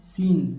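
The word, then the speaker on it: scene: है उसी प्रकार देखिए इस सी को नहीं पढ़ना है क्यों क्योंकि एस के बाद जो सी आता है वह साइलेंट होता है तो एस सी को नहीं पढ़ना है सीन सीन माने क्या हो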